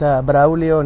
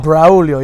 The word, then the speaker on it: Braulio: My name is Braulio. Obviously, it's a tough name to pronounce or spell. Braulio, yeah. Braulio. You guys have to roll your R's.